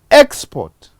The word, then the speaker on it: export: How do I make it? Export, export. So it is the stress shift that has changed the word class of the original word to.